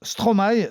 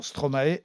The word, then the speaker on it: Stromae: Lui d'ailleurs prononce Stromae sans accent sur le E, mais finalement Stromae s'impose.